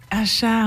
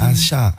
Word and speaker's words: Assa: Acha, on dit. Acha, ouais. Acha. Okay. Bon, t'inquiète, ça s'écrit Assa, je t'en veux pas.